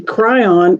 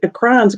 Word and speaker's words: Kryon: of cool stuff and the kryon it's spelled k-r-y oh i put c and that's okay almost like crayon i'm sure he's used